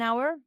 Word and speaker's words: hour: On dit on hour parce que la lettre H ne se prononce pas dans ce mot.